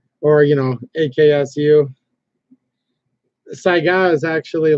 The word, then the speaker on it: Saiga: it by the way I always get caught saying Saiga but it's actually Saiga and I'm pretty sure